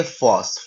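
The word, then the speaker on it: φῶς: पी H omega ओ और उसके बाद सिग्मा का उच्चारण है एस का। तो ये फोर्स।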